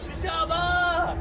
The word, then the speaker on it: chashama: Chashama!